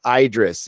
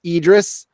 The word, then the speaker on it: Idris: sjw's wouldn't love ya idris pronounced with the i sounds like s it isn't pronounced idris it's a dress I say Idris yeah it's supposed to be a dress Alba but I'm and I'm